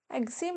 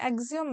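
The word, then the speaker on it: एक्सिओम: ठीक है, एक्जिम नहीं है, एक्जियम मिशन है, स्पेलिंग गलत है, एक्जियम 4 मिशन।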